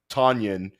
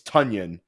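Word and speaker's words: Tonyan: of his career that it's not Robert tanan it's tanion and now we're finding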